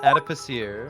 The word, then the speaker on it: adipocere: It's pronounced adipocere.